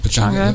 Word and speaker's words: Pechanga: Pechanga.